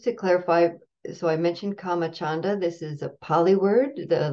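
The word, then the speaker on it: kāmacchanda: written down in and the comma part of that is not comma as in karma k a m ma a it's comma with a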